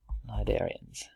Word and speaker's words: cnidarians: the cnidarians phylum Cnidaria c is silent and we pronounce it cnidarians and we can see